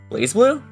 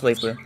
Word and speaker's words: BlazBlue: a very recent topic blaze blue wait no it's pronounced blazblue wait is it is